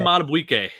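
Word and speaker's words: Madubuike: Justin Matabuike.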